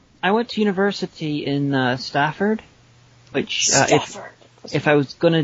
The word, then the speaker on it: Stafford: bad fake American accent, I would refer to as Stayford. No, because why would you pronounce it that way? I don't know. Whenever I was there, I thought if there was going to be a ludicrous American with a ridiculous accent, that's how it should be pronounced by them. Well, no, because there's no Y or E, or there's no other vowel that would contribute to the long A.